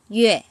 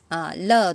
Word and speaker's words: 樂: Có liên quan, khi mà nó có liên quan tới âm thanh, từ này sẽ đọc là yue. Lơ tụ yên, chứ sử yue.